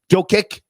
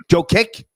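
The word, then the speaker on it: Jokić: How do you pronounce his name? Nicola. How do you say his last name? Joe Kick. Joker. Yeah. Joe Kick.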